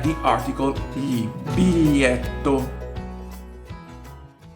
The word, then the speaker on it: biglietto: Biglietto is a difficult word to pronounce it right due to the gli in the middle of the word. However, it is pronounced exactly like the article gli. Biglietto.